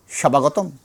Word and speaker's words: স্বাগতম: শব্দের শুরুতে বফলা যুক্ত হলে ব এর উচ্চারণ আলাদা করে হবে না। যেমন স্বাগতম দন্তশ এর নিচে ব হয়েছে। এটা আমরা কি বলব? সবাগতম না।